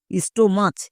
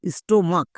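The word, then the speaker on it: stomach: সি এইচ এর জন্য কো উচ্চারণ হয়েছে। অনেকে একে ভুল করে চো উচ্চারণ করে দেই। স্টোমাচ এরকম উচ্চারণ করে। এরকম উচ্চারণ করা চলবে না। স্টোমাক।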